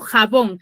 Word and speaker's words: jabón: Ya, sé que tiene su sílaba tónica en la última sílaba, que es la bon.